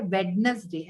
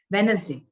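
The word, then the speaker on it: Wednesday: ये क्या लिखा है आप नॉर्मली इसको क्या बोलते हैं वेडनेसडे ऐसा बोलते हैं ना बट एक्चुअली इसको वेडनेसडे बोलते हैं वेनसडे तो इसमें डी जो है ये साइलेंट है देखिए यहां प डी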